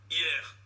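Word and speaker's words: Hyères: se soigner, il sera au centre hospitalier de hier. Hier, ça s'écrit H-Y-E-R-E-S.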